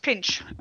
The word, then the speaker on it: PINC: It's called PINC. See with a thingy on it. I looked it up. It's pronounced pinch.